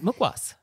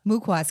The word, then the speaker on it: mukhwas: a restaurant thing oh fantastic so this is mukwoz mukwoas can you spell mukwoz for us well it's hindi but it is spelled on this little packet a m-u-k-h-w-a-s okay